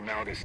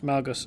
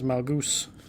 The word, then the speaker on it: Malgus: These flashpoints consistently remind me of an Austrian guildmate who used to pronounce Malgus as Malgoose.